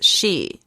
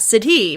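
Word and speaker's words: sidhe: assume it to be apparently they're pronounced as she over there like it fairies how you and I picture it are known as she's uh s-i-d-u-h-e s-i-d-h-e yep s-i-d-h-e not city but she because you know huh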